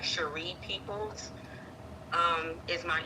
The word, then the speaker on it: Cheree: it's c h e r e e like Sheree peoples um um is my email and then